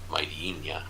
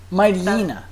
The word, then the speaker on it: Mightyena: Mightyana. Mightynia. No. Mightyena. That's awful.